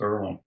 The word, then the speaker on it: Earlham: So, one last thing, I'll just tell you this: that when I was coaching in small college in Indiana, Earlham, but it pronounced Earlham.